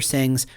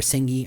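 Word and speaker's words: Senge: first 2 chapters of Peter Singh's, or Singhi, I think is how it's pronounced, The Fifth Discipline.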